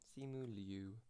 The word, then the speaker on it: Simu Liu: How do you pronounce his name? Simu Liu. Simu Liu. Okay, Simu Liu. That's how you say it.